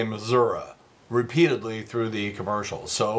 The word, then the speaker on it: Missouri: Claire McCaskill has got their new advertising campaign, radio and TV, and they use the outstate pronunciation of Missouri. They say Missouri repeatedly through the commercials.